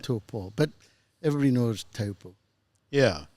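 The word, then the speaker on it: Taupō: be pronouncing the location Topo is what most people refer it to but the mauy name is to so if you just think toe and Paul right to PA but everybody knows too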